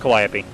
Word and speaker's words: Calliope: Pronounced Calliope.